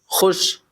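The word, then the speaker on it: خوش: Question number 148 ख्वाब और खुश में जो वाव इस्तेमाल हुआ है उसे हम क्या कहते हैं, तो उसे वाव मादुला कहते हैं जो साइलेंट होता है।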